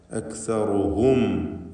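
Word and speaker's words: أَكْثَرُهُمْ: അക്സറുഹും, ഹും എന്ന് മണിച്ചു പോകരുത്. അക്സറുഹും ലാ യഅലമൂൻ.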